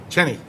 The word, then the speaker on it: Cheney: Cheney. Any comments that either of my colleagues would like to make? No, sir. I believe it's spelled and pronounced the same way as Dick Cheney.